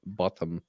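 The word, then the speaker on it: Bothm: is Ina bottom and bottom is spelled b o t h m and pronounced the British way Ina botam uh there's a whole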